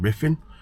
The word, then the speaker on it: Ruthin: I'm going to put that in the title tonight of this one cuz it's it's it's it's pronounced riffing cuz the user e something he told me roofing.